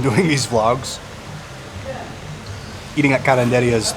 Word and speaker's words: karinderya: karinderyas as well, and they keep pronouncing it karinderya. No, not even like that. It's like karinderya, and I want to like shake them through the camera, through their video, and say that's how you pronounce it.